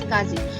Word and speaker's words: SCSI: small computer system interface and is most commonly pronounced as scasi it is a formally used interface for these